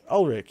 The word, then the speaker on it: Ulrich: Massive shout out to Shannon, I think it was Spaz, Elric, oh, no, it's, how do you say his name again? Yeah, Elric. Ulrich, yeah, I thought it was Elric.